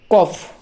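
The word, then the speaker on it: cough: এর মত তাহলে দেখো কফ সি ও ইউ জি এইচ কাফ কাফ মানে হলো কাশি এক্ষেত্রেও জি এইচ এর উচ্চারণটা হলো ফ এর মত তারপর দেখো রাফ আর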